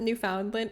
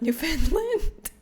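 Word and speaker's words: Newfoundland: Jean Jen, please never pronounce it Newf Foundland ever again. It's pronounced New Finland.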